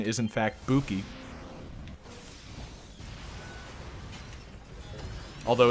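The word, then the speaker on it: 武器: lesson back on your back in it correct pronunciation is in fact Buki although it's 9 s we really don't have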